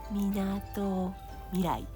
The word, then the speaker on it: Minato Mirai: Minato Mirai.